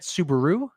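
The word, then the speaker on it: Soubirous: poor French peasant bernardet Subaru like the car uh claimed that our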